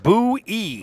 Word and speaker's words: Boyer: That's Josh Boyer. Bowie, he told me. I asked him before the game, and he said it's pronounced Bowie.